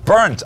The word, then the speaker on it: Bernth: Ola went with the English version, which is perfectly fine. BERNTH. I always say Bernd when I have to say my own name, because that's how we say it in German.